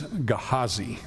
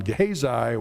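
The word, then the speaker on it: Gehazi: Uh the way the Hebrew word here for the servant of Elisha is is is pronounced is Gahazi. So just so you would like maybe to know all my life I've gone Gahesi whatever you know that's what it looks like in English.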